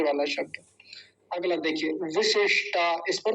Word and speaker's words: विशिष्टा: अगला देखिए विशिष्टा, इस पर तो बड़ा ध्यान देना था। दोनों छोटी की मात्राएं हैं तो जल्दी बोली जाएंगी। विशिष्टा लंबा नहीं खींचेंगे, पहली बात।